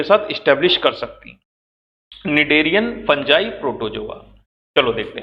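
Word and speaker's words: Cnidaria: Phylum में आते हैं, निडेरिया। किस फाइलम में है, टी साइलेंट होता है, कौन से फाइलम में, निडेरिया।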